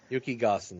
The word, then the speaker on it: Yukigassen: Well, over in Japan, how's it pronounced again? Yukigassen? Yukigassen? Yukigassen, yeah. Yukigassen.